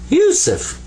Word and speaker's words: Yusuf: So it's pronounced you, you. And then sa, there's the 3 dots, the 3 stems that are up here like this, without dots, actually. So that's sa, pronounced like a S. And this is fa. This comes up to be Yusuf.